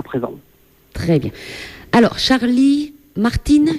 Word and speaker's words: Charlie Martin: présent très bien alors Charlie Martine junior c'est ça c'est comme ça que tu le prononces voilà je suppose que